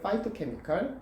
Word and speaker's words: 파이토케미칼: 우리가 알고 있는 것은 이제 그걸 파이토케미칼 또는 어떤 분은 뭐 피토케미칼이라고 하는데 발음은 상관없습니다.